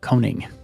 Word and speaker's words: Koning: through HR Tech Synergy and your last name is spelled k o n i n g coning thank you very much for coming on the